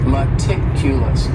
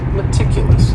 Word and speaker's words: meticulous: word is meticulous and this word has four syllables and the stress is on that second syllable meticulous meticulous that first syllable also has that schah that a sound that reduced vowel sound meticulous this is another